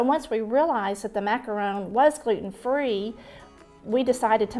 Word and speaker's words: macaron: The correct way to say macaron is macaron, like macaroni. It's not a macaroon, it's a macaron. But really the correct way to say it is macaron. The French way.